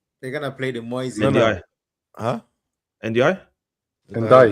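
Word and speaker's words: Ndiaye: NDI. Huh? NDI? Ndai. Pronounce it? It's Ndai.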